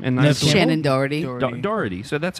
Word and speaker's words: Doherty: And Shannon Doherty.